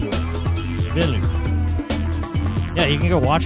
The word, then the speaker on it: Villeneuve: Because Denis Villeneuve is a French guy. French has language ties, being a root Latin language with Spanish, and the Spanish version would be Denis Villanueva, but the French pronunciation is Denis Villeneuve, and you can look it up.